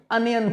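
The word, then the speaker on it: onion: मतलब पर होता है इसको आप ओनियन नहीं पढ़ा करो अनियन पढ़ा करो प्याज की प्याज ₹30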